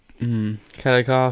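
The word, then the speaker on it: Kelleher: Right, Brow beat Brian Kellecar, I think. Keller. Is it? Yeah, I think it's pronounced Keller at Alright, UFC Keller.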